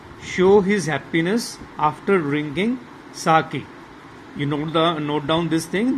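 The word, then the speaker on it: 酒: line description was there, the lady teacher was pronouncing it as sake, but actually it is sake.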